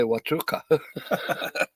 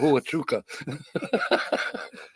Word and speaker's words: Huachuca: She taught me how to say Huachuca instead of Huachuca.